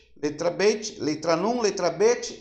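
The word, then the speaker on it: ב: Quando ela tem um pinguinho aqui, ó, se pronuncia bet, é B, né? Como o nosso alfabeto AB. Então pronuncia B, bet, bet. Se tirar o acento, aí você pronuncia vet, como fosse o V de V, né? Vet, vet. Então com acento é bet. Sem o acento é vet.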